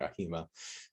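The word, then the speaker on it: AHIMA: I think a HEMA is the one I've heard the most, like the fish mahi mahi, a HEMA.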